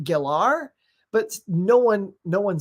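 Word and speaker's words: Gellar: calling them and it's weird because San Rachelle Geller everywhere calls her that but she said on a talk show it's actually pronounced gilar but no one no one says that still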